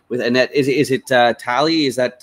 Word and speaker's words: Talie: Annette is it uh tally is that how you pronounce Italy Okay cool so the emphasis is on the second syllable gotcha here with Annette Talley let's continue step number